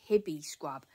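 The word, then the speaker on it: Hibiscrub: b i s c r u b so hippie scrub I get it from Amazon and a lot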